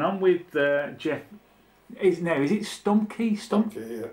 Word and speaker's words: Stumbke: Is it Stumbke? Stumbke.